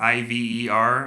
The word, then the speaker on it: Iver: have Fernanda and Ivar, I-V-E-R, I believe Ivar. Future Gabe here. His name is pronounced Iver.